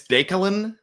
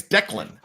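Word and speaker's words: DeKaylin: It's Dakelin. Dakelin? Yeah. Daekaylalyn. Yeah. Dakelin. Yep. Or maybe it's Declan.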